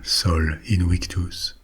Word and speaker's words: Sol Invictus: will tell you about Soul Invictus or Soul Invictus if we want to pronounce it like the ramens did Solin victus was the